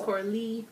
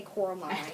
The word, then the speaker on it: Coralie: It looks like Coraline without the line. I know. It's Coralie. I keep wanting to say Coraline, Me too.